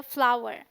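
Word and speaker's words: flour: करेंगे shift shift D फ्लावर ध्यान रखें इसे हम फ्लावर बोलते हैं या फिर फ्लावर फ्लावर नहीं बोलते और जो फूल होता है उसे भी हम फ्लावर ही बोलते हैं ठीक है फिर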